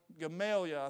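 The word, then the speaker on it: Gamaliel: of the smartest men in his day uh gamalia I think is how you pronounced his name he was a Pharisee of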